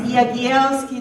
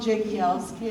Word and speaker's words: Jagielski: It's Jagielski, not Jagielski, as everybody calls him.